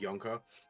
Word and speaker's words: Junka: In another roleplay thing where I have a character, I named the character, the spelling is Junka, but pronounced Yonka.